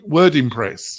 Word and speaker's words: WordImpress: Am I pronouncing it correctly? WordImpress? WordImpress, yeah.